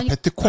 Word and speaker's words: 베트콩: 근데 이제 베트공 이러면 발음이 어려우니까 베트콩. 아니, 발음이 실제로 CO로 돼 있어요. CONG. 공산인데 우리 콩산. 콩산은 그러니까 같은 한자를 베트남에서 읽는 방법, 우리나라에서 뭐 읽는 방법 다르잖아요. 그 차이인 것 같은데.